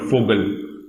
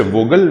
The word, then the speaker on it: Vogel: Similarly, there's one more word called Vogel. Okay. So Vogel means bird. We'll not say Vogel, we'll say Vogel.